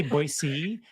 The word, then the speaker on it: Boise: also spoiler alert hayley is not originally from boise so she moved there too so a little